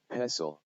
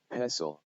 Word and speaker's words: pestle: some of the examples where um s t l e are present and then they are silent i'm not going to